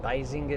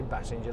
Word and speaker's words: Basinger: there you are look I think the Americans pronounce it Basinger don't they they don't say Bassinger like we do somebody that's his name